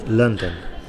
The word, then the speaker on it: London: noun and likewise um to pronounce the capital city of England correctly it's London okay London there's a biggest stress at the end sorry at the beginning London but the two stresses